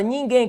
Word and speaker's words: ninguém: Rapaziada, ninguém. Qual que é a ordem? Qual que é o bizu aqui de ninguém? Ninguém. A sílaba tônica recai sobre a última. Então, oxítona terminada em é seguido de M.